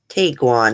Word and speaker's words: Tiguan: Tiguan, that's how you say it.